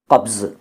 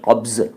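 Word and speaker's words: क़ब्ज़: कई लोग कब्ज़ कहते हैं, कुछ लोग कब्ज कहते हैं, कुछ लोग कबज कहते हैं, कुछ लोग कब्ज़ कहते हैं। ये सब गलत हैं। सही उच्चारण है कब्ज़, कब्ज़।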